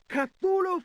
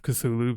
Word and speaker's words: Cthulhu: Apparently, like there's like Lovecraft himself described the pronunciation of Cthulhu being like vastly different at different points in time. Like I'm sure one pronunciation I read somewhere was more that he suggested it was more like Cluhulu or something like that.